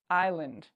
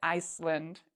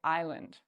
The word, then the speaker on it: island: which one it is Island the S is silent we don't say Iceland we say Island okay so knowing what